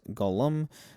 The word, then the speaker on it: golem: of prominent rabbis owning golems throughout the Middle Ages. In modern times, the word golem, sometimes pronounced Gollum in Yiddish, uh has come uh to mean who one is slow, clumsy, and generally dimwitted.